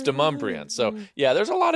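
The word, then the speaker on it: Demonbreun: Like, you can't live in Davidson County if you can't say Deumbrian. That's exactly right. It's not Demon Bruin down downtown. It's Deumbrian.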